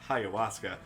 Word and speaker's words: ayahuasca: doing lots of them I like how long it took us to learn that this is pronounced ayahuasca and now she appears